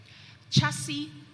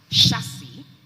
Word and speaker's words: chassis: the word chassis okay chassis can also be pronounced chassis or chassis it is french origin